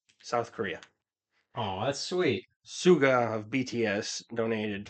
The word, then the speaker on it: Suga: Yeah, sounds like Sugar, but Suga.